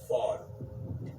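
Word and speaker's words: ephod: was called and it's it's spelled EP h o d but the way you say it is fod okay so right here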